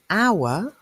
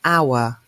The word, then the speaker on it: hour: begins with H but an hour begins with H but the H is silent we don't say power we say a hotel a horse a hobby but we say an hour and that means it's